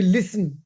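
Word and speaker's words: listen: वी लिसन लिसन T silent है।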